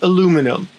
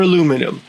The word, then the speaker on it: aluminum: In the United Kingdom and Australia, it's pronounced aluminium, but in the United States and Canada, it's aluminum.